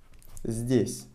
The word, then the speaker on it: здесь: Алекс тоже живет здесь. Здесь. Written здесь, pronounced здесь. Instead of the, we are pronouncing it с.